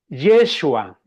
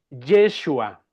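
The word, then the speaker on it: ישוע: del nombre Jesús, que en el idioma de los hebreos se pronuncia Yeshua. Noten, por favor, la diferencia. Josué es Jejoshua. Jejoshua y Jesús es Yeshua.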